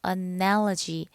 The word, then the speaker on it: analogy: 뭔가 비슷한 점을 말하죠 발음은 analogy analogy고 합니다 여기 두 번째 강세가 있어요 analogy 자 두 번째는